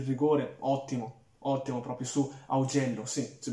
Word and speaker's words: Augello: è conquistato il rigore, ottimo, ottimo, proprio su Augello, sì, si pronuncia così, ecco, mi ero un po' confuso,